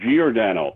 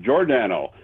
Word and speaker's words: Giordano: When he came to the team, everybody here in the media, everybody elsewhere called him Giordano. Yes. And then we were later to find out that he pronounced it Giordano.